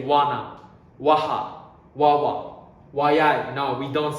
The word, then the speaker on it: は: Okay, now I'm telling you when we pronounce wa, it's written ha, but we pronounce wa, okay?